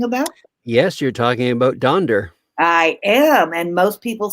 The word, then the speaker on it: Donder: Yes, you're talking about Donder. I am, and most people say Donner, and it's Part of part of that comes from a TV show, Rudolph the Red-Nosed Reindeer from the 1960s.